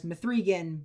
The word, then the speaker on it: M3GAN: was Megan though I refer to it as methan because that's how it's spelled I've seen a lot of people that